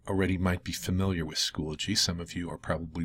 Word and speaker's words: Schoology: Not Squology, not Schoology, but Schoology.